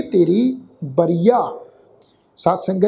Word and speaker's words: बरिया: बरिया इनू बरियां एड़े नूं कन्ना उपर बिंदी लगा के प्रनाउंस नहीं करना, वारी मौका इस ढंग नाल ही प्रनाउंस करांगे बरिया।